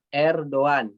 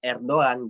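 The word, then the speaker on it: Erdoğan: Ya, di chat Erdogan dibacanya ya Erdogan gitu. Bukan Erdogan ya. Bukan juga Erdogan, bukan ya. Tapi Erdogan. Erdogan. Yumusak G-nya itu tidak dibaca menjadi Erdogan.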